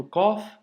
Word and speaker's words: ق: la lettre KOF euh il a dit pensez au bruit que fait le corbeau le corbeau il fait pas qu qu qu il fait tu vois le son doit venir de loin de de du fond de la gorge et doit remplir toute la bouche ok donc pour l'astuce